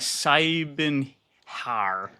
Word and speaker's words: Siebenhaar: say, you know, cuz spelling is like cyen har? Yes. Yeah. It means seven hairs in German.